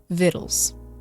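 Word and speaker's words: victuals: Viddles.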